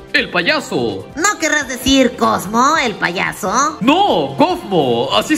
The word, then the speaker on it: Kaufmo: ¿No querrás decir Cosmo el payaso? No, Cosmo, así se llama. Se escribe Kaufmo, pero se pronuncia Cosmo.